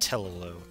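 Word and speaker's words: Tellu: Okay, now I think we're up against Telelu. Yeah, I pronounce it with 2 U's, because, again, I...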